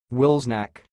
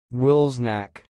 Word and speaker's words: Wilsnack: of this word is sounds like wills knack snack I will repeat more slowly Will's neck Will's neck that's all